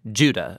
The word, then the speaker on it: Judah: The letter of Jude, or more accurately, Judah, according to the pronunciation of his name, both in Greek and in Hebrew.